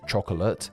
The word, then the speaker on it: chocolate: If you were learning English and were told to pronounce chocolate as chocolate, and then everyone is just omitting that middle O, it must seriously be confusing.